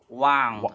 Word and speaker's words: wound: word the word one the past tence of the word one is called wound right wound wound right yeah yes so if